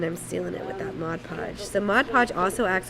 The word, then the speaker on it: Mod Podge: can't stop saying Mod Podge yeah it's a Mod Podge sounds better not not mod podgepodge mod podge